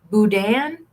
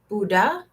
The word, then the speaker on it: boudin: Boudin? Boudin. Boudin? And somebody said you don't say the end. Buddha?